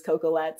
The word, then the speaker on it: Coquillette: and Google ability no one can spell or pronounce my actual last name which is cocoette so I decided to um yeah shorten my